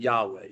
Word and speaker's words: Yahweh: So the actual pronunciation has been long lost. We can only kind of guess at it. But scholars have reconstructed Yahweh, so I'll stick with Yahweh.